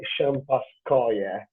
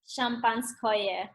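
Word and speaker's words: шампанское: call a sparkling wine like, and correct my pronunciation if it's wrong, which is for sure is wrong, Sovetskoye Champaskoye. Champanskoye.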